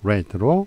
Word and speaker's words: read: 스펠링은 똑같지만 발음이 다르죠. read와 read로 발음이 다릅니다. poetry는 시집이고 시 한 편은 a poem이라고 해요. 다음 he's going to read a fashion magazine 이렇게 됐죠.